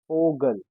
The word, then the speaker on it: Vogel: Vogel.